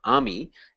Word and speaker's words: AMI: called Army all right the pronunciation is uh Amy and uh the full